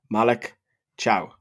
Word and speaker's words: Malick Thiaw: Malik Cow.